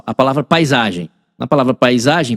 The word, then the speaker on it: paisagem: Na palavra paisagem, P com som de P, A com som de A, I com som de I, eh, S com som de Z, na verdade, né?